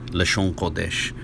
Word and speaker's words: לשון הקודש: In a standard understanding of Hebrew, it's typically vocalized Lashawan Quadash.